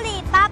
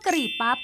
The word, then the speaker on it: กะหรี่ปั๊บ: อังกฤษ ว่า curry pu ปัจจุบัน บาง คน ออก เสียง พยางค์ แรก คือ กะ ผิด เป็น อักษร ควบ กล้ำ ว่า กระ บ้าง ก็ เขียน พยางค์ สุด ท้าย เป็น พั ตาม การ ออก เสียง ใน ภาษา อังกฤษ แต่ ใช้ รูป วรรณยุก ผิด อักข วิธี ไทย คำ นี้ ใน พจนานุกรม